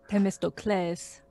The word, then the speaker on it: Themistocles: An acute accent on the last one. So like sensei, Themistocles. Yeah. So it's not a the, it's more of like a te sound.